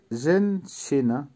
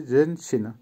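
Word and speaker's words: женщина: জেনসিনা, জেনসিনার অর্থ হবে মহিলা বা ওমেন, উচ্চারণ হবে জেনসিনা। আবারও বলছি জেনসিনা, জেনসিনা।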